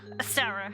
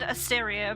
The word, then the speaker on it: Astera: Astera? Astera. I almost said Asteria, but that's not how to say it.